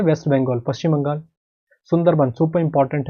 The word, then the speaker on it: सुंदरबन: सुंदरबन है ये, पर वहाँ पे मैंने आपको बोला है प्रोनाउंसिएशन थोड़ा अलग रहता है, तो वन बोला जाता है उसको, जैसे रविंद्रनाथ को रविंद्रनाथ कहा जाता है, तो सुंदरबन कहा जाता है।